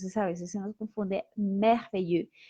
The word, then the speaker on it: merveilleux: Entonces, en todos estos adjetivos que terminan en EUX, siempre vamos a distinguir el masculino del femenino por la pronunciación de la S. Masculino merveilleux, femenino merveilleuse.